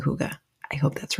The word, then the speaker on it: hygge: So, I have But the whole idea of huga, it's spelled h y g. Um, but it's a Danish word and the pronunciation according to the book is H O O G A. So I'm saying huga.